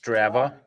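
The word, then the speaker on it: Strava: two days before Mo she looks Herra it's pronounced straa thank you I have that app keeps track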